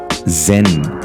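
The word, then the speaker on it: 禅: prefectures as well and guess how the japanese pronounce the word chan gen or zen that's right this is how over time zen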